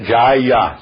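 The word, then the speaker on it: जय: que não seja tônica Então as pessoas pronunciam ja mas na verdade é Jaia se você for ver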